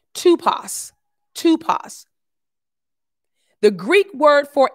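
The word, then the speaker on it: typoi: t y p o i and it's actually pronounced tupas tupas the greek word for impression is tupas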